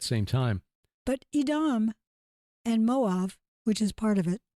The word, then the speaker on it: Moab: that indicate that it moav will be Moab Moab we pronounce it usually will be spared for